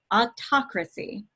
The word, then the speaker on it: autocracy: going first of all the way you say autocracy is ah krasi autocracy you might also see